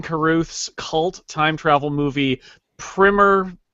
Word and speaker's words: Primer: cult time travel movie, Primer. You might call it Primer. That's the wrong way to pronounce it, but that's fine, whatever.